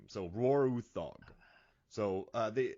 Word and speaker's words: Roar Uthaug: saying his name so Roarog so uh they I read the Nordic pronunciations like Roar Utes as Roar Roar uog so I feel good about pronouncing that name but feel positive